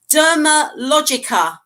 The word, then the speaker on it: Dermalogica: Right, Dermalogica. I didn't That's pronounce that correct.